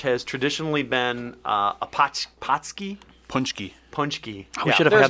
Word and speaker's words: paczki: potchki. I looked it up this morning. It's punchki? yeah, there's an N sound in there.